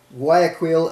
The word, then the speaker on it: Guayaquil: One of the primary sources of Young Living's lemongrass is from the Finca Botanical farm in, I can't even pronounce this, it's Guayaquil, Ecuador. G-U-A-Y-A-Q-U-I-L.